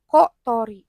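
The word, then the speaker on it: 小鳥: Itu kanjinya cisai kecil dan tori burung. dibacanya kot thori.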